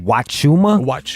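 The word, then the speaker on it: huachuma: yeah and it's called wachuma how you spell it HC that's the problem because it sounds like a wha right and it's a huh it's h-u-a okay c-h-u-m-a I'll tweet it out and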